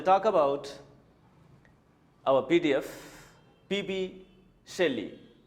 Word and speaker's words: Shelley: Shelley. You care the pronunciation of Shelley. Shelley. This is Shelley. Some students say Shelley, Shelley, Shelley. No, Shelley. The right pronunciation is Shelley.